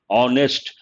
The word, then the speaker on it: honest: no h is silent honest because the letter h is silent or mute we have to use